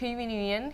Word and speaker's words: Nguyen: We're actually going to play a game with our guest George Nguyen, who's a really charming actor, but also a huge fan of Star Wars.